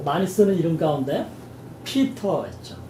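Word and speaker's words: Peter: 존 말고 또 많이 쓰는 이름 가운데 피터 있죠. 미국식으로 발음하면 피러가 되겠죠.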